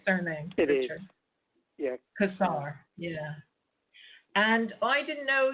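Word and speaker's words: Cossar: Kazar, yeah.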